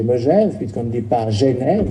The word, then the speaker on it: Megève: Moi, je dis Megève sans dire me ni mais. On dit Megève. On ne dit pas mais ni mais, mais on dit Megève, tout simplement. Oh, il faut prononcer Megève, puisqu'on ne dit pas